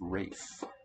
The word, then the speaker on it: Ralph: for today i believe in the uk the name spelt ralph is actually pronounced rafe so maybe rave penny